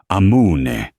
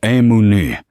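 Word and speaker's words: amunì: But he'd pronounced it amun, stretching the vowels like a tourist. Allesia's grandmother, her nona Sophia, would have cuffed him on the back of the head. It was amuni, a sharp, quick command.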